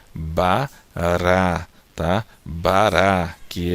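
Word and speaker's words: ברא: Então fica aqui a letra Bet, o som do B com A, Ba. Depois a consoante vogal aqui, o som do Resh com A fica Ra. E o som da Aleph é muda, você não pronuncia. Então aqui nós temos a palavra Bará, tá?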